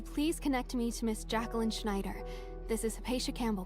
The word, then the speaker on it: Jacqueline: Also, it's pronounced Jacqueline.